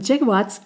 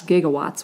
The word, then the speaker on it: gigawatts: Brown 1.21 gigawatts 1.21 jigowatts Great Scott they were pronouncing what we would say perhaps gigawatts with a soft G gigawatts anyway we have